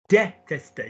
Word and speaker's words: détester: Do me the first syllable of the word hate. Come on, you can do it. You've done it beautifully. De. No. I've told you there's an acute on it.